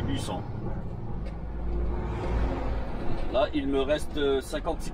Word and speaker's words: Bussang: C'est un G muet. Il s'écrit Busang. Et on dit Bussan.